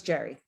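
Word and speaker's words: Gerry: Jerry, because you spell it with a G. Is it Jerry? A G, yeah, G. Okay. So it's Jerry.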